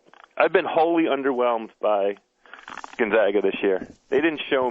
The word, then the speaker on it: Gonzaga: with this Syracuse team Gonzaga Gonzaga Gonzaga Gonzaga Gonzaga that's how we call it that's how that that's how you pronounce my high school which is Gonzaga College High School here in the District